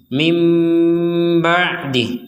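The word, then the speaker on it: مِنْ بَعْدِهِ: Nah, berbeda lagi ketika orang tersebut membacanya dengan menggabungkan nun kepada ba sehingga menjadi mim ba'dih, bukan min lagi tapi mim.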